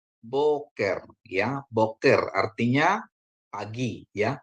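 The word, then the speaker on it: בֹּקֶר: dengan holom bacanya jadi ya k dikasih dengan segol bacanya ke ya atau ke ya terus akhirannya Res ya jadi Bacanya adalah boker Ya boker artinya pagi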